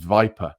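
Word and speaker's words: Weiper: He's probably pronounced Viper, I would have thought, spelled Wii Per.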